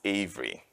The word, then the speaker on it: Avery: name is Avery here in the US is pronounced Avery where I'm from originally probably if you've detected the asent I'm originally from Nigeria so in Nigeria is pronounced a but then I came